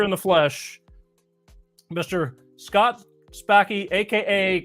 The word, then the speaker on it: Spackey: Well, actually, most people get Spackey wrong, too, and have all my life. But is a very Sanskrit name. So, but you got them both right. is how you pronounce that, and Scott Spackey is